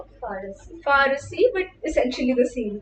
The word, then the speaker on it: Farsi: In Delhi, we have a variety called Farsi, which is pronounced Farasi.